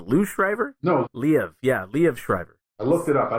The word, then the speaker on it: Liev Schreiber: of parts, but I don't know how you pronounce his name, but I think it's Liev Schreiber. I think it went Lou Schreiber. Is that what you said? Lou Schreiber? No. Liev. Yeah, Liev Schreiber.